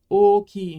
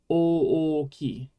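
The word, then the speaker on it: 大きい: Remember that you're pronouncing every vowel, but it's just a little different when it's the same vowel. You should say oki, but not o-oki, right? There's no little break in the middle between the two o's.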